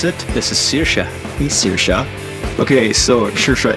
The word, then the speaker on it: Saoirse: Tell us her name because nobody can pronounce it. This is Saoirse.